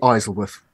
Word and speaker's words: Isleworth: the capital city um but um it's actually isleworth actually no no you're right you're right I